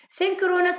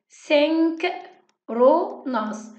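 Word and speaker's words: synchronous: انترنت كوميونيكيشن او التواصل عن طريق الانترنت هقسمه لجزئين، 2 بارتس، سينكرونس كوميونيكيشن وهنعرف يعني ايه، واسينكرونس وبرضه هنعرف يعني ايه. بس الاول انطقها معايا، قسمها معايا يلا. سينكرونس، سينك رو ناس، سينكرونس كوميونيكيشن، سينكرونس كوميونيكيشن، اسينكرونس، اسينكرونس، اسينكرونس كوميونيكيشن.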